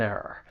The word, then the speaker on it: error: The word has two syllables has those two R sounds. Just remember that the stress is on the first syllable.